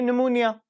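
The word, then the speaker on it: pneumonia: नी से हम याद रखेंगे निमोनिया, पी साइलेंट होता है यहाँ पे।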